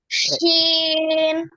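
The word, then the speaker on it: شين: আহনাব বলবেন আগে বলেন আহনাব বলেন এই হরফটা শিন আবার বলেন শিন এইতো সুন্দর হয়েছে তাহলে শিন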